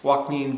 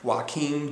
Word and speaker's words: Joaquim: And Joaquim de Almeida. I apologize if I'm pronouncing it correctly. It's like Joaquin Phoenix, only it's with an M. Joaquim de Almeida.